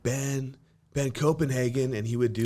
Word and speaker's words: Koppenjan: Yes, that is syllables. Those are words. Ben Koppenjan. Well, people would like say Copenhagen.